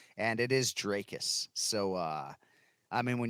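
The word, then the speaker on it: Dricus: why a lot of people get tripped up trickus you play cease is still knocks to please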